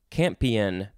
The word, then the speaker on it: campion: n next we have camping c-a-m-p-i-o-n-champion it's like champion but with no h noun from 1576 any